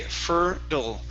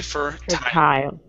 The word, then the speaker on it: fertile: good all right now you cannot mix the t and the d so if you're going to go with the flat d you have to say fertile if you're going to go with the normal t you have to say fur tile okay all right you can't mix those sounds right um next one